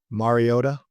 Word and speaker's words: Mariota: He's your friend, Marcus Mariota.